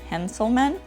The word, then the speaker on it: Hanselman: man it's handsel minutes so I probably didn't pronounce his name correctly it's Hanselman and handsome minute podcast